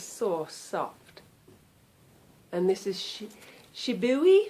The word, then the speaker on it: Shibui: And this is Shibui. I just found out this weekend at the retreat that this is pronounced Shibui, I think.